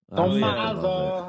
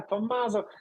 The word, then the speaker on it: Tommaso: My uh my Italian counterparts, it's like they really they really pronounce the double M. It's like Tommaso. Tommaso. Vieni qua, Tommaso.